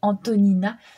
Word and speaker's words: Antonina: encore plus compliqué donc moi je l'appelis Antonia à chaque fois mais je sais que c'est pas ça c'est Antonina elle est d'origine russe